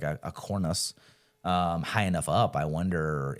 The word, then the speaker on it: cornice: So I just wanted to like know how to, and then like the cornice is spelled Cornice. So like cornice. Oh, I was saying cornice.